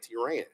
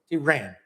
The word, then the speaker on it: T Ran: But you pronounce my name T Ran. T Ran.